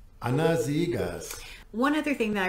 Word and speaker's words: Anna Seghers: by anna c siegers i did look up and try and pronounce that name correctly this is how uh wikipedia has it anazigas one other thing that